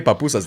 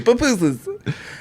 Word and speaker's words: pupusas: And then you don't say papusas. They say pupusas.